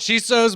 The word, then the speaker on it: Chisos: me here in austin texas little roman with chisos addy hattie is it did i say it right that's close i like it she sews boots i like the mountains out in west